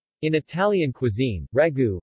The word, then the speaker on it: Ragù: in Italian cuisine ragu pronounced ryu is a meat-based sauce that is commonly served